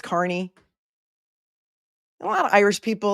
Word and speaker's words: Kearney: Could anybody in Massachusetts learn how to pronounce Carney? It's not hard. It's Carney. You all know that it's Carney.